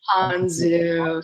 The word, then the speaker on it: Anzu: It's Anzu, rhymes with Anzu. So Okay. Anzu, not Anzu.